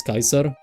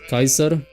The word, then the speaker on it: Kaiser: But the thing is that you pronounce the C as like a K and then you have like the A E you pronounce it as like Kai.